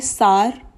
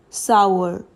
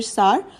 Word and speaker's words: sour: मैंने देखा है कुछ लोग इसे बोलेंगे सार, कुछ लोग इसे प्रोनाउंस करेंगे एज सोर, बट both are wrong. The correct pronunciation to this word is sour.